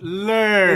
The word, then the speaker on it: Lurger: oh, My name is Lurger. Excuse me. Lurger. No. It's lur. It's lur. It's just lur. It's lur. The G is silent because it's French.